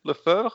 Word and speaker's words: Le Feuvre: Is it Le Feuvre? Or? I mean, it may be a bad time for the analogy, but it really is pronounced like the sickness, fever, Le Feuvre.